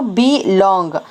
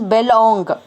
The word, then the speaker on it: belong: And I am going to divide this word into belong. Is it? So why? Because E is the long sound vowel, belong. So I will not pronounce as belong.